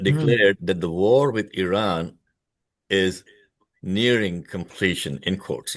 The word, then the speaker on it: Iran: By the way, folks, it is pronounced as Iran, not Iran.